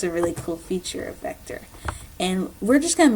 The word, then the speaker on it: Vectr: a crash course and vector so vector is a free online program that you can download off the internet or get their app it's pronoun it's spelled vector without the l so pretty simple so